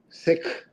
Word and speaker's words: Sikh: So why can't we say Sikh? The problem to me is, and to my ear, is that to most Americans, it will sound like you're saying the word S-I-C-K.